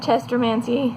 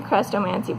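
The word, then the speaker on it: Chrestomanci: jones the chronicles of chester mancy technically crestomancy but i've always pronounced it chester mancy it's got the pronunciation in the book but my brain calls it chester mancy anyways so the two books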